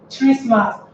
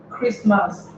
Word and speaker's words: Christmas: For example, we would have said that this word is Christmas. If you had to pronounce it with your letter, it would have been Christmas. But because we pronounce with our sound, this word happens to give us the transcription Christmas, making the sound.